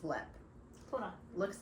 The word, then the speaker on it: Leap: It's not Leap, it's Lep. Hold on. Looks like Leap. Ugh. You did that, not me. I know that. Alright, it looks like Leap. It's L-E-A-P. It's pronounced Lep.